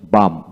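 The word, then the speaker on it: balm: arms A এম জেড আমস ভিক্ষা তারপর আসেন বাম বি এল এম বাম এইচ এ এল F half half T এ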